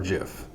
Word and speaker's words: GIF: go on the street more people will say gif over jif it's not peanut butter so to me it sounds like it's just that there are more people wrong than there are right in the pronunciation not that you know